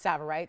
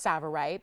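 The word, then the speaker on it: tsavorite: it is spelled severe the t is silent um pronounced saborite spelled to savorite it is pronounced savorite but if you're familiar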